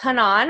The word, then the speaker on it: Hanan: I usually joke that it's like ha ha, and then like non, like the bread. Nice. Hanan.